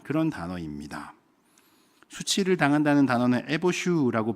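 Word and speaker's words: יֵבֹשׁוּ: 수치를 당한다는 단어는 에보슈라고 발음을 하는 단어이고 그리고 말라버린다는 단어는 야베쉬라고 발음하고 있습니다.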